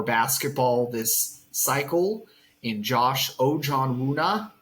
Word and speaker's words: Ojianwuna: this cycle in Josh Ojan Wuna. Uh take note of that pronunciation out there, listeners. Ojan Wuna.